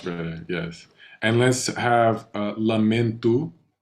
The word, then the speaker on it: lamento: And let's have lamento. It's not an O sound. It's not lamento. It's lamento. Lamento.